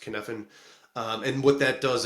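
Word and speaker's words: Cynefin: Um so there's so David Snowden um he came up with a kfan model uh which is like c y nef i n but it's just pronounced kfen.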